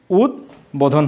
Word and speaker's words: উদ্বোধন: যেভাবেই বলি, তো সাধারণত সন্ধির সূত্রে আগত বফলা সবসময় উচ্চারিত হয়। উদ্বোধন, তাহলে এটা কি হচ্ছে? এটা হচ্ছে উদ্বোধন হচ্ছে।